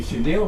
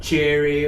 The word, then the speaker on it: chenille: it a peacock bedspread because we couldn't pronounce chenille. You know, it would come out cherry or a Chanel or something like that.